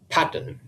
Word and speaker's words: pattern: step three quite easy it's fairly obvious that in pattern the stress is upon the first syllable quite simply because emphasizing it makes the word sound less ridiculous now this should come